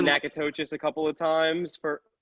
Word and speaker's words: Natchitoches: over the summer, was learning how to say Natchitoches. How is that? How does that sound right? It's Natchitoches? good. How the hell were you pronouncing? I did say Natchitoches a couple of times for.